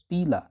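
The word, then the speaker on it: Pila: तो पीला, it's pronounced as पीला, एप्पल स्नेल जिसको बोलते हैं।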